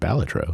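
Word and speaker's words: Balatro: saw IGN thing and they're like actually it's pronounced batro and I was like oh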